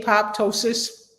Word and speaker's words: apoptosis: Apo, how y'all going to pronounce that? Apo I say apoptosis.